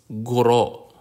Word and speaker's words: guro: means a young woman the consonant G like the G in go it's always hard example is guro guro auro is a